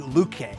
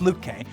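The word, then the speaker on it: Lütke: from shopify ceo toby lukey lutky i always get his name wrong but it's luke k and that can help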